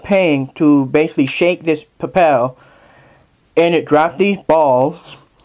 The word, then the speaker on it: Papel: It's a PayPal, or not PayPal. It's Papel. It's spelled P-A-P-E-L. Think of it as paper, but replace the R with the L.